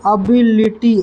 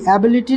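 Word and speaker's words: ability: उच्चारण देखो, अबिलिटी, एबिलिटी नहीं, अबिलिटी।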